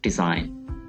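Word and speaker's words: design: जैसे हमारे पास ये पहला वर्ड है डिज़ाइन, तो इसमें जी साइलेंट है और इसको हमने अंडरलाइन किया हुआ है।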